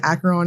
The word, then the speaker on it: Acheron: Before this video, I searched how to pronounce this multiple times, and the majority of the sources say Acheron is the way to say it.